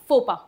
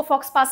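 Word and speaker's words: faux pas: यह word French है। इसको फ्रेंच तरीके से ही बोला जाता है। फोपा। इंग्लिश में इसको फॉक्स पास नहीं बोलते। इसको इंग्लिश में भी फोपा ही बोलते हैं।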